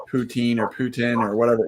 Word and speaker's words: poutine: say it yes yeah so we say poutine everybody in BC says poutine um so that's the right way to say it then Darren said older